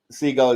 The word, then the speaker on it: Seagal: Seagal is how it's supposed to be pronounced.